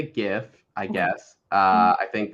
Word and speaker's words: GIF: about like you know it just makes more sense if it's a hard G so GIF okay I like that